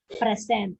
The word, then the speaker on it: present: So present. So that stress is in the first syllable.